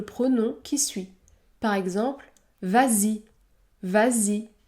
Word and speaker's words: vas-y: qui suit par exemple vas-y vas-y le S se prononce Z Z vas-y ou encore prends en